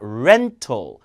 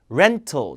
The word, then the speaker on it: rental: 등급 안 줍니다 레가 아니라 레레 렌탈이 아니라 rental rental 자 그것도 발음 강세 편에서 어떻게 알 발음을 입모양을 해서